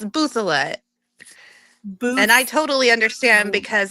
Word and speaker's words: Bouthilette: how are you hi so how do you pronounce your last name it's buet and I totally understand because I just married